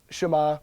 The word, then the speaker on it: Shema: in the Hebrew it's it's said you know Shema but it's it's spelled Shima and it's actually a